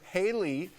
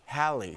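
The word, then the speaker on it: Halle: the premiere while doing press for the film Haley and Mark Holly and Mark am I saying it wrong h halberry hly no hi hie yeah there you go halberry and Mark talked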